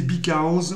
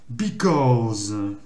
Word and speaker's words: because: Donc, on va répéter qu'il y a, comme l'accent il est ici, on va pas prononcer because, on va prononcer because.